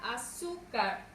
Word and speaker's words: azúcar: Vamos con la palabra azúcar. mayor fuerza de voz en la penúltima sílaba y termine en una consonante R. Esto nos indica que irá acentuada.